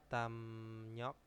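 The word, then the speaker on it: 담력: emnyok ya terus ada damnyok ya Dam rok itu bacanya damnyok itu bisa diartikan dengan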